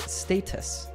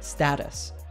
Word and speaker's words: status: He pronounces it status. This way of pronouncing this word is more common in British English. In American English, this word is usually pronounced status.